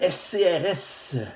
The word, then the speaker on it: SCRS: Et on peut aller travailler pour le SCRS, donc qui est encore un sigle ici parce qu'on prononce chacune des lettres SCRS, contrairement à un acronyme